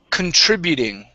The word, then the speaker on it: contributing: uh okay this is contributing okay so stress right here on the trip contributing contributing okay one more